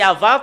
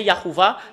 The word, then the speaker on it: Yahvah: vient le nom yahoua les humains l'ont changé selon leur volonté normalement c'est Ava qu'on le prononce bah ça devient yahouva bah il il rajoute des choses il rajoute des des